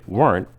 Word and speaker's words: weren't: the rooms weren't clean notice that wasn't has two syllables but most people say weren't as one syllable wasn't dinner wasn't expensive weren't there weren't many people wasn't and weren't usually don't have a clear t sound at the end the t sound is cut off or disappears the weather wasn't